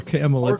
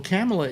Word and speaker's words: Kamala: i heard biden accidentally call her camelot today yeah well camella is how it's pronounced actually let me get